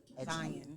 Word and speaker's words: Xion: Yeah, Zion. Zion. Oh, but it's spelled Xion.